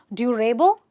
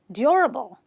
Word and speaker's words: durable: A lot of people say durable. That's wrong. It's durable, durable, durable.